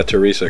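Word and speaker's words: Theresa: it's th theres Thea actually yeah Teresa cuz it's German it's Teresa Teresa using all German ingredients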